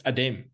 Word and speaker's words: Adem: I'd like to point out Adam is spelt with an E. Hey, Adem. Adam. It's Adem.